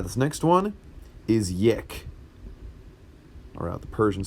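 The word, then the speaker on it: یک: this next one is yech around the Persian spelling as well as the English fine let's redo that that's a little too close it's pronounced like yech like a yak but a yak and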